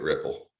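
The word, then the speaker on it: Replit: have an online ide they said pronounce it ripple so we'll do that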